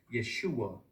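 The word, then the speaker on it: ישוע: or the the pentagrammaton which is pronounced Yeshua in Hebrew it's y hsh h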